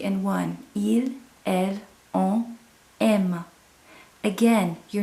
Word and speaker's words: aimes: And then for you, tu, you're going to have tu aimes. So you have an ES, but the pronunciation doesn't change. Then we have he, she, and one. Il, elle, on, aime.